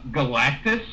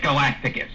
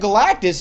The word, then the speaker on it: Galactus: Uh ever listen him talk about uh Galactis. Okay. He he pronounces it Galacticus. He he mispronounces that.